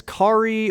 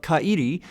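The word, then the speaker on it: Kairi: is Hugo and kaidi I looked up multiple pronunciations for CI uh but they were all pronouncing it as Ki or kry or Kye but one of my buddies who is much more familiar with Japanese culture than I am told me that it is more of a three syllable pronunciation of cidi so that's how I'm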